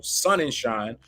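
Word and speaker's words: Sonnenshein: applications for spot ETF and I think uh shunningham I think is his name uh who's the CEO over at uh grayscale yeah excuse me let me make sure I say his name correctly Michael sun and shine will continue to leverage all of its resources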